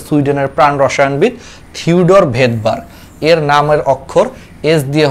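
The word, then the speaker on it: Svedberg: সুইডেনের প্রাণ রসায়নবিদ থিওডর ভেদবার্গ, এর নামের অক্ষর এস দিয়ে হচ্ছে তোমার বোঝানো হয়। বাট এটা রাশিয়ান ভাষাতে এসটা হচ্ছে অনুচ্চারিত থাকে, এজন্য উচ্চারণটা হচ্ছে ভেদবার্গ।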